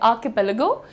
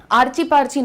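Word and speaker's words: archipelago: भी रुक सकते हैं आ के पेलेगो आ की पेगो आ की पेगो आर्ची पार्ची ना बोलिएगा है ना क्या मैडम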